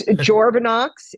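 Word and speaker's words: Journavx: Uh, I'm not even certain how to say the drug's name. It's Joranox. It's J O U R N A VX and it is a 50 mgram tablet.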